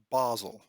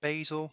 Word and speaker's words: Basel: from the very set it is pronounced basel in switzerland not basil not basel basel and it's most famous